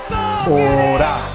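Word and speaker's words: אור: encontrar en la palabra Orá. Así es como se escribe Orá en hebreo. Cabe señalar que la palabra luz en hebreo se pronuncia Or, pero cuando se le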